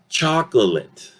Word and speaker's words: chocolate: In this case, reduction will take place in 2 vowels, not 1. It will reduce that O sound and that A sound somewhere here in between. So instead of saying chocolate, okay, we will tend to listen to this word as chocolate. Chocolate. The O is actually this ah sound, okay?